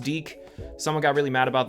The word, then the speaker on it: DIC: made by DIC entertainment but seriously it's pronounced deke someone got really mad